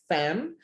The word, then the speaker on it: FAM: minimal cost to participants the short form is pronounced like the start of the word family not as individual letter in the fam but it's like fam sam tour okay explain